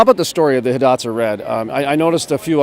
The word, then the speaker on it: Hidatsa: something that you didn't originally create is it pronounced Hidatsa correct yep so I'm looking at the Hidatsa red originally grown along the Missouri River Valley